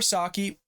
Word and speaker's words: Psaki: white house press secretary gensaki or saki however you want to pronounce it breaking down into tears